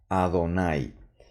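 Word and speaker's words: אֲדֹנָי: baja no jefa jefa pero no leo esto de aquí sale pues la palabra Jehová no traducida en el español debo simplemente leer a Adonai no no tiene mucho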